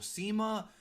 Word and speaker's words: CIMA: Shima, that's how you pronounce it, losing to Kenny Omega did not hurt him at all.